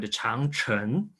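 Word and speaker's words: 长城: In Chinese, we call it Changcheng, C-H-A-N-G, Chang. It means long. It's not means great, actually. The Great Wall is an English translation for the Chinese, but the Chinese way we call it Changcheng.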